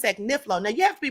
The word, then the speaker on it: Agnifilo: And could everybody please stop calling this damn man Agnilio? The man's name is Agniflo.